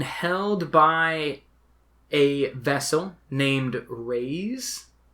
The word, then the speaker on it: Raze: It is being held by a vessel named Raze. I always say Reza, like a German pronunciation.